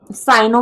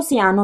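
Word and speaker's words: cyano: ठीक है, साइनो भी बोलते हैं इसको, सियानो भी बोलते हैं, प्रोनाउंसिएशन पर डिपेंड करता है किस तरीके से आप करते हैं।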